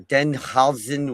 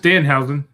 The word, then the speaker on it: Danhausen: Danhausen or Denhausen, whatever you say his name. It's just Danhausen. Whatever. Just like it's spelled.